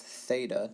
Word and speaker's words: theta: 45 degree angle as a reminder this is pronounced theta th the theta sin Greek letter represents the